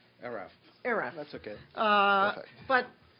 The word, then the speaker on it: ERAFP: You're going to tell me how to pronounce it correctly. ERAFP.